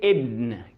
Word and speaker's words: ابن: بمعنى ان انا لو كلمة ابن مثلا جت في نص الكلام فالالف ده هو ما بقرأهوش، فبوصل اللي قبله باللي بعديه.